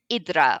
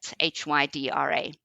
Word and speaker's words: Hydra: caught a fery to idra or Hydra is how it's spelled h yd r a so Hydra which is how I think most English speakers will pronounce it is an interesting little